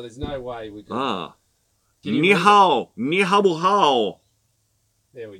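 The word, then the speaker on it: 你好: Ni hao. Ni hao. It's spelled hen hao.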